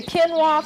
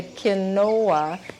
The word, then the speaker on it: quinoa: from South America and even though it's spelled q u i n o a and so a lot of people say kinoa is not it's quinoa if it has any